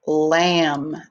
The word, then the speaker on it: lamb: and what also has the same ending sound lamb l-a-m-b lamb so this is a good time